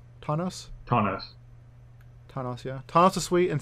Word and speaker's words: Tawnos: Tawnos.